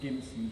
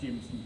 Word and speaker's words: Jimson: of the senior officers, not to pronounce it Gimson, because that upsets me. It upsets anybody that knows how to pronounce Jimson properly. So if you ever see the name Jimson spelled with a G, it's a soft G, because none of us drink gin and tonic, we drink gin and tonic.